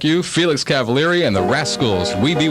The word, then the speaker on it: Cavaliere: you before how you say the name it's cavalieri right but how you said you had a